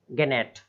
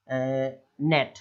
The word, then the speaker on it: gnat: अब नेक्स्ट है, क्या लिखा हुआ है, अब इसको लोग कैसे पढ़ेंगे, गेनेट, गा, जी को गा पढ़ते हैं हिंदी में, तो वो भी लगाएंगे, ऐसा नहीं लगाना, केवल इतना ही नेट, NAGNAT, स्पेलिंग वही रहेगी, पढ़ना इस तरीके से, नेट, है ना, मच्छर।